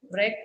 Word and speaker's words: wreck: අපි wreck කියලා මේක කියන්නේ W අකුර ශබ්ද කරන්නේ නැහැ. wreck. මේකේ we don't pronounce wreck, it is wreck.